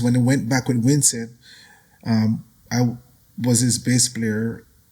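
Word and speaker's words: Wisin: How do you pronounce it? Winston.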